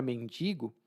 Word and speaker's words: mendigo: temos muitos mendigos Ah e essa palavra mendigo causa um pouco de problema aqui no Brasil porque as pessoas não sabem exatamente a pronúncia e eu mesmo às vezes pronuncio errado é mendigo mendigo b a